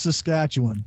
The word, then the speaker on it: Saskatchewan: Yeah, it's pronounced Saskatchewan.